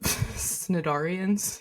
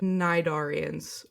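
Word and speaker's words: cnidarians: The C is the C is silent, which makes sense. And I always kind of wondered so what what how how it's pronounced uh nidarians or nidarian nidarians not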